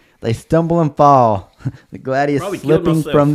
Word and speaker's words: gladius: Am I pronouncing that right? Yeah, pretty much. Gladius.